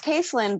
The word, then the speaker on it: Caithlin: Well, it's so it's Caitlyn, but my mom was the only one that pronounced it that way. Um like it's like an old old older Gaelic spelling and I just I